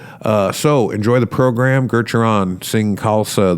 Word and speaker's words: Gurucharan: so enjoy the program Geron sing kalsa the second U is silent and so you do not say Guru Charon it's Geron uh a Northwest Native